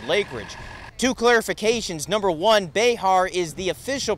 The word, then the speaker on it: Bexar: get past mansfield lakeridge two clarifications number one behar is the official pronouncer for the county that's the old school spanish mexican pronouncer before today's generation calls it bear county and number two there have been softball